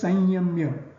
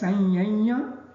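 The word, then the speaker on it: संयम्य: The word sanyamya is a curious case. It would be written and pronounced only as sanyamya, neither as sanyanya nor as samyamya.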